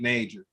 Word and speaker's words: Najor: the uh you know sometimes people think that the j is silent but it's not so every time i've